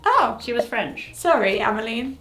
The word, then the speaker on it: Ammeline: Ameline.